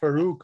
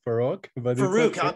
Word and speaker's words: Farook: having me here hello my name is farook by the way not for rock i apologize i'll be